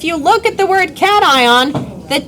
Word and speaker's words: cation: Okay, you sound like a Don't say this word is not. This word is cat ion. It is a compound word.